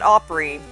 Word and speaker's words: opera: We call it Opry rather than opera just because that's how it's pronounced with a redneck accent.